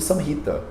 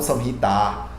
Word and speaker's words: Samhita: vocês vão me ver pronunciando sanita e não são irritar porque o último a que é aberto na verdade porque ele terminou a palavra ele cai para pronúncia mais fraquinha é assim que a gente pronuncia no sânscrito tá então é isso